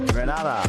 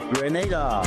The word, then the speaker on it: Grenada: So today, like we Germans say, we are in Grenada. But I heard in English it's called Grenada.